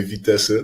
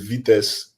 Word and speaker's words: Vitesse: So in the Netherlands, we actually say Vitesse. That's right. Nice. But it's actually a French word, which is vitesse, which means speed. But we pronounce it as Vitesse in the Netherlands.